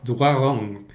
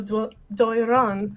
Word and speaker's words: Doiron: I think it's Doiron. If I do the French R. Yes, I'm not French, and I made a C in French, but I'll say Daniel Doiron.